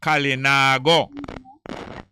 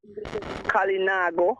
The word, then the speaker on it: Kalinago: the carib call themselves kalinago you know what you pronounce how are they kalinago kali na go like it i said nah go somewhere but kalina got